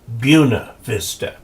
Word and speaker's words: Buena Vista: There's also a place in Colorado that is spelled Buena Vista, and they call it Buena Vista.